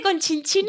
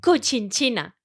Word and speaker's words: Cochinchina: Mira, no se dice Conchinchina, ¿Cómo se dice? se dice Cochinchina.